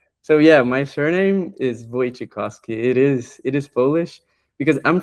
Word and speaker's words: Wojciechowski: But yeah, it's pronounced Wojciechowski, and it's just a bunch of letters.